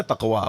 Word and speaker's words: تقویٰ: یہ جتنا گاڑھا موٹا لفظ ہے نا تقویٰ، منہ پھلا کے بولا جاتا ہے اگر صحیح تلفظ سے ادا کریں.